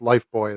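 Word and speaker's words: Lifebuoy: It's pronounced Life Boy though.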